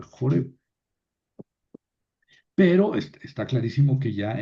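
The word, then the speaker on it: Horeb: en el monte Sinaí, también llamado monte Oreb, que hay que pronunciar Joreb.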